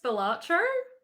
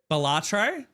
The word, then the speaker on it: Balatro: I would like to hear your pronunciation of that word. I think it's Balatro. Balatro? Josh, what would you say? I say Balatro as well.